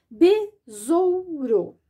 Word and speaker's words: besouro: Besouro. Olha aqui a regrinha. E, que é vogal, e O, que é vogal. Entre as vogais, eu vou colocar o S e vou pronunciar o som do Z. besouro.